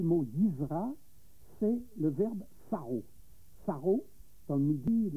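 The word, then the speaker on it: Sarrault: Le mot Saro, ça s'écrit S-A-2-R-A-U-L-T, mais c'est la phonétique.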